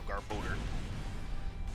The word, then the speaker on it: Garbodor: I think it's older, so Garbodor. No, it's a door, so Garbodor. It's like Hodor.